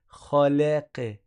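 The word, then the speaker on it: خلق: Khalaqa, khalaqa.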